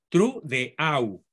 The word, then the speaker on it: Trudeau: Es Justin, pero se pronuncia Justin en francés, pero digamos castellanizado, Justin Trudeau, con doble, es el diptongo francés más frecuente. Trudeau se pronuncia.